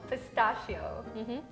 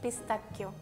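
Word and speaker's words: pistacchio: say i already know pistachio no it's pistachio oh oh okay so like the hard seas yeah because there is double c but also the h okay so it's pistachio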